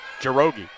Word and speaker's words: Njoroge: She said, basically, it rhymes with pierogi, but you don't pronounce the N. So there, that was great. Jirogi.